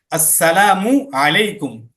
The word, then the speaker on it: আসসালামু আলাইকুম: আসসালামু আলাইকুম, সালাম দেওয়ার সময় আসসালামু, মিমের পেশটাকে স্পষ্টভাবে উচ্চারণ করতে হবে। এরপরে আলাইকুম, আইনটাকেও স্পষ্টভাবে উচ্চারণ করতে হবে, আসসালামু আলাইকুম, এভাবে। ঠিক আছে?